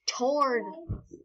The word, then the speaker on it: Tord: and I got a gets a her it's pronounced toward there you conquered yes we need sands and